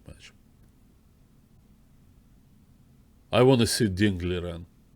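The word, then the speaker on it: Ding Liren: I want to see Dingley Ren, or Dingley Zheng, as they properly pronounce, properly, at least the closest I can get to Chinese pronunciation.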